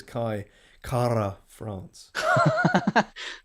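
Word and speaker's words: Kai Kara-France: The pronunciation is Kai Kara France. Apparently he rolls the R.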